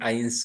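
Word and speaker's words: eins: वन के लिए या एक को जर्मन में आइंस कहते हैं एक को जर्मन में आइंस कहते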